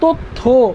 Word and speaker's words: তথ্য: এখন আমরা কি তথ্য বলে থাইমা যাই না শব্দের শেষে উচ্চারণ করি, তথ্য উচ্চারণ কি করি, অয়ের উচ্চারণ করি না, এর জন্য অন্ত অয়ের নিয়ম অনুযায়ী এখানে হবে ওকার, উচ্চারণটা হবে তথ্য, উচ্চারণ কি